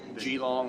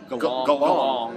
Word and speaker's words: Geelong: So the people we were sitting with were fans of the Geelong or Geelong, as it turns out. We've been pronouncing it wrong.